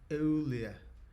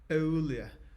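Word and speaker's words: Euler: Ear is pronounced oolia. Impress your math friends with this knowledge. Olia.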